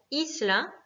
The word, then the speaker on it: isla: Le mot isla, pareil, finit par une voyelle, un A, donc c'est la première syllabe qui va être accentuée, isla.